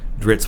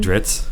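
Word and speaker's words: Drizzt: I mean, it's a double Z, which to me, like I think of double Zs, I think of pizza. But Dritz, it doesn't really work.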